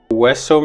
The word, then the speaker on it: hueso: An example for this is hueso means bone. Also you have huevo, which means egg. In these words, this HU combination stands for the sound W.